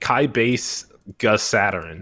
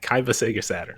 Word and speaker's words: Kaiba Sega Saturn: The name everybody looks at and pronounces wrong because they're like Kai Base Gus Saturn. And I'm like, okay, Kaiba Sega Saturn.